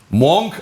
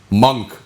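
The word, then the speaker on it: monk: ഒരു ഒരു തർക്കം ഉന്നയിച്ചു മോങ്ങ്ക് ആണോ മങ്ക് എന്നാണോ ഉച്ചാരണം എന്നുള്ളത് വിദഗ്ധൻ നമ്മൾ അത് പരിശോധിച്ചു അല്ലേ കോളിൻസ് ഡിക്ഷണറി പരിശോധിച്ചു കേംബ്രിഡ്ജ് ഡിക്ഷണറി പരിശോധിച്ചു ബ്രിട്ടാനിക്ക പരിശോധിച്ചു ഇംഗ്ലീഷിൽ മങ്ങ്ക് തന്നെയാണ് മോങ്ങ്ക് അല്ല അപ്പൊ ഈ സംശയം ഉന്നയിച്ചവർ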